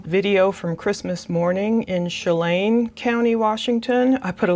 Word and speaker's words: Chelan: from Christmas morning in Chelan County, Washington. I put a little note, pronounce it soft, S like in shoe, lan rhymes with can, so I guess it's Chelan County, Washington. So that was the morning,